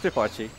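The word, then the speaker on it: Pipotchi: Pipachi. Base Pipachi, saving the day. I never knew how to pronounce that properly. It's Pipachi.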